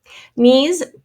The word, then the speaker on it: knees: end of the word knees i hope you've got the silent k and the lung e sound is being spelled double e in this case ot this is the